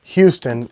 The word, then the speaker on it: Houston: There's a county in Georgia that's spelled Houston, and they insist that you pronounce it Houston.